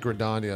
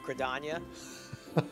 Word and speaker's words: Gridania: I think Gridania is how you pronounce it, but yeah.